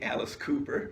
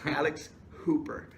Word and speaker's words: Alex Hooper: So many times we've already accidentally say Alice Cooper, yeah. But it's Alex Hooper.